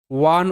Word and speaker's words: one: এগুলো তো প্রথম শব্দ যেটা সেটা ও এনই ওয়ান উচ্চারণ এটা অন ভাবতে পারো অনেকে ওন ভাবতে পারো দেখো বি ও এন বোন সি